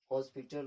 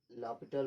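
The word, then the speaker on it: L'Hôpital: Variable method, exponential method, हॉस्पिटल rule, जिसको हम लापिटल rule के नाम से, ऐसे डिफरेंट प्रोनाउंसिएशन की जाती है डिफरेंट पर्सन के अकॉर्डिंग, सम फॉर्मूलाज, यानी कि सम strainer formula for the limit.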